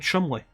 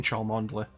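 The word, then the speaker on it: Cholmondeley: sent to meet at the star is called Chumley what everybody keeps calling and Chaumont let any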